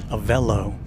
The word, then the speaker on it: Aello: Uh but as of today, Aello Airlines, and I did get the correct pronunciation. It says Aello uh announced that announced the its inaugural flights from McKini airport here in North Texas.